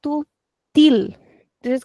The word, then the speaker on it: til: In Portuguese, we call it acento til. So in European Portuguese, we will say til. But can anybody try this in Brazilian Portuguese? Remembering the rule that we do not pronounce the L at the end.